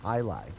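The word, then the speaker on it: jai alai: So it's pronounced highlight. Yeah. Highlight. Spelled with a J.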